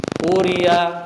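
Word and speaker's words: قُرِئَ: Jangan sampai hamzah itu ketika dalam kalimat itu kita tashilkan, kita jadikan usaha. Jadikan hamzah yang bacanya diringankan, bukan tapi quri'a.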